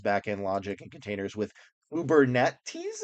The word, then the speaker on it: Kubernetes: So develop Python microservices to modularize backend logic and containers with Kubernetes is what I think it's pronounced.